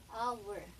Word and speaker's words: hour: Yung H, okay, consonant siya, pero parang silent H siya. Okay, silent H, hindi mo bibigkasin letter H niya. Kaya parang nagsisimula siya dito sa hour.